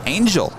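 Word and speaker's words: ANJLL: procedure for lax is a-n-j-l-l pronounced angel for the city of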